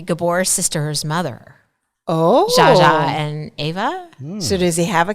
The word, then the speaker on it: Eva: Is she Ava or Eva? I think she's an Ava. I think she's Ava. It's spelled EVA.